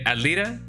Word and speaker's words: Alita: The Alita, how you doing? I mean, technically speaking, yeah. I guess the diminutive of Ali would be Alita, which I feel like rhymes with bonita, which is definitely true.